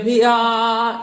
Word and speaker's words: pia: Potria novel vigore il pia. Pia, the accent falls on the A, so you will sing the A.